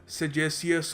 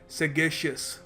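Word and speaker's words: sagacious: देखिए पहली बात तो इसको प्रोनाउंस करने का सही तरीका है सेगेशियस, सेगेशियस। तो सेगेशियस देखिए यहाँ पर इसका कोई सेज से रिलेशन नहीं है, ये लैटिन से ये वर्ड आता है, लैटिन भाषा से।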